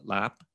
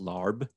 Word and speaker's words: larb: what's called what's called lap you know i think a lot of people when they go to a thai restaurant it looks like it's pronounced larb um oh yeah yeah